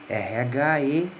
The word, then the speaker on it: Rhesus: Porque Rhesus se escreve com RH, né? R-H-E-S-U-S, né?